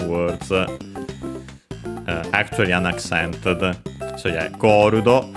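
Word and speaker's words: ゴールド: So yeah, Gorudo, accented on the first syllable.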